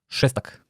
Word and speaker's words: Šestak: Even my last name has one. It's sh, šestak.